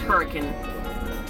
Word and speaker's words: Hurricane: actually in a hurricane just kidding pronounced hurricane Utah right next to Zion where